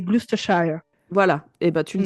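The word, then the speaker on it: Gloucestershire: mal le prononcer le glucesthire dans un je sais très bien dire SH le reste c'est plus compliqué je crois qu'on dit pas le CE et je crois que c'est glusthire voilà et ben tu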